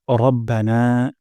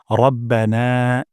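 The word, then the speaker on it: رَبَّنَا: হামদ প্রথম শব্দটি হলো রব্বানা এখানে র মোটা করে উচ্চারণ করব না এখানে এক আলিফ পরিমাণ মাত করব রব্বানা রব্বানা তারপর ওয়ালাকাল ওয়ালাকাল হামদ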